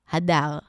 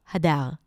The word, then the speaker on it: Hadar: my name in Hebrew because in Hebrew, my name is pronounced Hadar. Hadar.